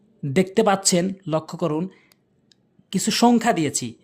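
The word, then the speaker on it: ث: এরপরে হচ্ছে সা সা, অর্থাৎ জিহ্বার আগাটা সামনে 2টি দাঁতের আগাতে লাগাবেন।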